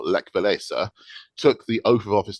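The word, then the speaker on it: Lech Wałęsa: But as the Americans would pronounce it, Leech Walliser, or Lech Walesa, took the oath of office to become the president of the newly democratic Republic of Poland.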